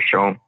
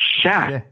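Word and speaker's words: cher: It's not Sean, it's Sha. Yeah. It's Sha, not Sean. Yeah, and it's spelled C-H-E-R. Yeah, share, like share. Right, but we Cajuns don't say share, they say Sha.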